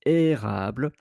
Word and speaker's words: érable: Another word that is interesting is érable because it's the E accent aigu. Without the E accent, you would have pronounced érable, but because it's érable, then you place the accent.